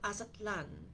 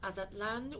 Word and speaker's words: Aztlan: It is interesting also because Azatlan, which is spelled Aztlan, has a derivative from a people from long, long ago.